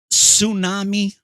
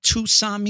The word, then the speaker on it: tsunami: ] idiot know that it's tsunami not too sami you dumb the t is silent let me let